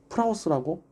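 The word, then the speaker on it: πραΰς: 이 온유함이라는 단어를 원어로 프라우스라고 읽습니다.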